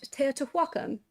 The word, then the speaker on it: Teotihuacan: Oh, and now we are back at Teotihuacan. Yes? Score out of 10 for how I Teotihuacan. said that? Teotihuacan? Yeah. Yeah, the HU is usually just pronounced like a W, but other than that, yeah, pretty good.